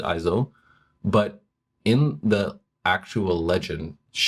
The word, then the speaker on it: Iseult: Well, it's actually interesting because it's spelled in this game Iseult, so I pronounce it Izo, but in the actual legend, it's spelled Isolde.